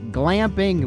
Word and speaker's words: glamping: let's go glamping yes glamping with a g i said it right it's camping with some extra stuff check it out on today's daily 304.